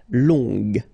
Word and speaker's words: long: ok so long remember you don't pronounce the final J will become long ok so phonetically it's long gagagaga long so long